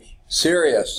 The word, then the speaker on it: Sirius: sky what do we say it was serious okay now it's not spelled like are you serious as si RI a us absolute magnitude of 1.4